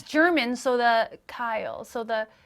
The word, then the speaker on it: Keil: But it's pronounced Kyle. Kyle, spelled Keil.